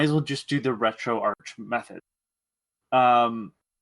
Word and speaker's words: RetroArch: retrograde i think i don't know how to pronounce it i say retroarch but i i've heard both does it have a an h at the end yes then it's arch okay retro arch um